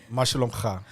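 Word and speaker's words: מה שלומך: Mashalom kha. You got to get that Q in there.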